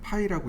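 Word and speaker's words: φ: 요거 뭐라고 읽냐면 파이라고 읽습니다. 파이요. 이렇게 읽습니다. 파이 50.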